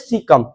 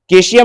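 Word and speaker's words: cecum: discuss करेंगे तो इसको बोलते हैं सीकम केशियम नहीं इसका उच्च उच्चारण है सीकम क्या है सीम गलती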